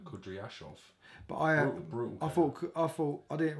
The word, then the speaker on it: Kudryashov: Brutal knockout of Korobashov, however you pronounce his name. I think Kudryashov or something. Good pronunciation, Dan. Kudryashov.